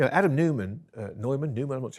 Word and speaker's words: Neumann: leaders yeah you know adam newman uh neumann newman pronounced it at wework i mean it's extraordinary you